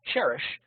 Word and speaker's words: Cherish: And then Cherish, which rhymes with fish, is the vivid red Petunia there to the right.